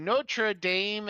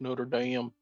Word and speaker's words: Notre Dame: So, Notraame has already been t taken. Machu Picchu's already been taken pronounced Notre Dame.